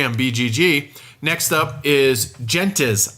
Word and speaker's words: gentes: bgg next up is gentes i think is how you pronounce it g en tes by stefan reis house